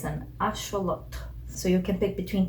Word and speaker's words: axolotl: pick between these two lotto that's the correct pronunciation axolotl is the colonizing way of saying it because